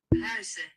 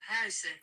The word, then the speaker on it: Huijsen: And before I even pronounce his name, I just want you to listen to this. Huijsen. I'll play it one more time. Huijsen. Huijsen.